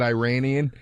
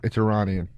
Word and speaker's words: Iranian: such an asshole because I said Iranian, and he goes, it's Iranian. And I was like, wasn't just a matter of pronunciation. He goes, no, actually, it's just Iranian.